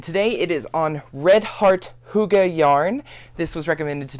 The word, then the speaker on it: Hygge: know the specifications redart Huga h g g e it is one of the European languages Swedish Norwegian something like that um but it's pronounced Huga and the ball one